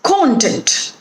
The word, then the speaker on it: content: but the film lacks content so here the pronunciation is content and the stress is on the first syllable con content when it